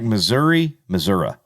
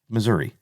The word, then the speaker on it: Missouri: It's like Missouri. Nope. There's no A. Mm-mm. It's an I. It's Missouri.